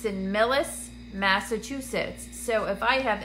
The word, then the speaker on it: Millis: if you're in near Millis I think I'm saying it right mi ll is Millis mass I will be